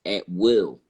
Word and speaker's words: Atwell: And, I'm just trying, my last name is Atwell. So when I looked up, Atwell, I came to the a saying it's actually pronounced at will.